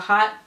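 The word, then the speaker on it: Haute: And also, if you're interested in her yarn, she has an Etsy shop as well, and it's called Hot Knit Yarn. It's spelled H-A-U-T-E, Knit Yarn, which is kind of neat.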